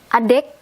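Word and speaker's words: adik: at the Indonesian language this one you can skip the K or silent K it becomes a day this one you cannot skip this one you can a dick or a day Sundanese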